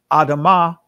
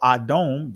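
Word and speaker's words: אדום: So when we go to the scriptures, we see adam or adom, this is the Israeli pronunciation, adom.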